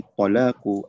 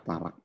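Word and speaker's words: طلاق: Yaitu tolak yang terjadi, nah, atau talak yang orang kita bacanya talak. Sebenarnya dalam bahasa Arabnya itu at-talaq, alif lam to lam alif qaf, ya, talaqun.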